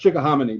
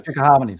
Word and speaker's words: Chickahominy: Where we are is pushing, east of Richmond, coming over the Chickahominy up here by I think it's pronounced Chickahominy, by the way. Chickahominy.